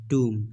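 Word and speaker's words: tomb: हो तुम हो तुम कि वह इस बीच silent so E just need टो pronounce ट्यूम okay okay कि तुम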